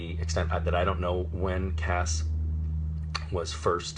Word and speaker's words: Cas: pronunciation, they spelled it C-A-S-S, which is hard C followed by the vowel and consonant cluster that makes the sound ass.